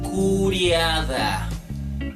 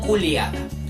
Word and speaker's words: curiada: Y estos curias, la familia, formaban la asamblea curiada. No culiada. Curiada. ¿Se entiende? Yeah. No es lia, es lia. Hay una pequeña diferencia de pronunciación.